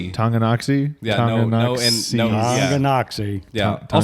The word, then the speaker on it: Tonganoxie: Tonganoxie, Kansas. Yeah. That's where- Tonganoxie? Tonganoxie. Tonganoxie. Yeah, Tonganoxie.